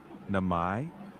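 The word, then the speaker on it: 名前: Next, namae Namai means name.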